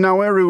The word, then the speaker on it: Nauru: Well, I mean, Nauru is how it is pronounced in Nauruan, uh which is the local language, so fair enough.